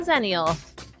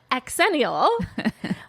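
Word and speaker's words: Xennial: to admit Danny before I asked Google to pronounce that for me which is a totally zenial thing to do by the way I always said aenial but and hopefully some of the listeners also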